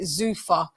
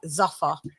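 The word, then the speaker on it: Zuffa: It's called And and they've got a belt and it's called the You guys pronounce it Zufa. It's Z U FF A. In England, we pronounce that Zafa.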